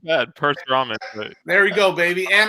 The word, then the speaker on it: Parasuraman: I'm here joined live by Paul Austria, Danny Gillette, Parasuraman. Did I say it right? Not bad. Perth-Raman.